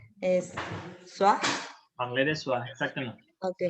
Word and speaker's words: soi: Ajá, mais tu te rappelles comment on prononce OI? Ay, no. A ver, déjeme ver cómo se pronunciaba. Por ejemplo, teníamos palabras como esta. Moi. Moi, toi. Entonces. Es soi.